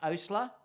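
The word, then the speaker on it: Oastler: it is uh emphasis how do you pronounce your last name it's Osler um yeah so it's Osler now people never ever can pronounce that name it's really hard I'll get Osler ustly it's all funny names so yeah so it's it's actually Osler o-a-s-t-l-e-r um quite a more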